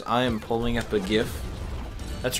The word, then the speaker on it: GIF: love this listeners I am pulling up a gift that's right I said GIF that's how it's pronounced um I'm going to pull up a